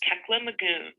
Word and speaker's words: Kekla Magoon: I'm going to go to the name pronunciation. Hello, my name is Kekla Magoon.